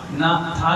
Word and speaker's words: नाथ: नाथ, ना था के बाद एक लकीर है, वो आ का उच्चारण होता है बड़ा, तो नाथ।